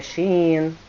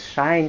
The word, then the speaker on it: Shein: É Shopee, é Mercado Livre, é shein, tá? Muita gente diz shine, Shane, enfim, tá gente? Dizem que a pronúncia correta é she in, né?